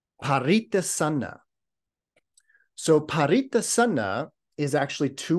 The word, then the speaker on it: paritassanā: And then the other word that we're talking about tonight is this pari, let me get the correct pronunciation, paritassanā.